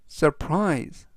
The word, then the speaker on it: surprise: 뜻이 되겠습니다 이번 단어는 surprise surprise surprise라고 발음하시면 되겠고요 이때 강세는 끝부분에 있는 알파벳 아이의 강세가 있습니다 그래서 surprise라고 발음하시면 좋겠고요 품사는 동사 뜻은 놀라게